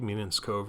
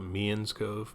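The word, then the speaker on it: Meenan's Cove: Might be Meanan's Cove Road, but they actually call it Mean's Cove, but it's spelled Meanan's, so I've been trying to say it better.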